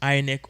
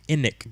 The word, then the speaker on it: INEC: independent National electoral commission ionic or inec depending on how you want to pronounce it now this particular organization